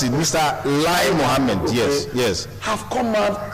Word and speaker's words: Lai Mohammed: Okay, let me help you pronounce it. Mr. Lai Mohammed.